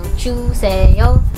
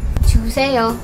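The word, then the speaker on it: 주세요: It only contains 3 syllables. Ju-Se-Yo. We can show that us Filipinos are respectul or polite in just 3 syllables. Ju-Se-Yo.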